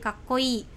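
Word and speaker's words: かっこいい: Nah keren itu kakkoi, ingat ya i-nya sedikit dipanjangkan jadi kakkoi ya, seperti siapa ya, idol Korea gitu ya, kakkoi gitu.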